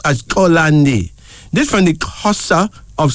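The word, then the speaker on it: Xolani: but it's pronounced as kolandi this from the Corsa of South Africa male name meaning please forgive note that the initial k sound should be said before clicking sound so it's colony but it's pronounced as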